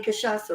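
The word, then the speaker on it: cachaça: actually pronouncing that right I do know I'm pronouncing kashasa right and caipirinha um but it is not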